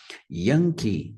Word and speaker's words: Yankee: o y que é representado pela palavra código yanke yankey primeira sílaba também é mais forte yankey yankey taxi vai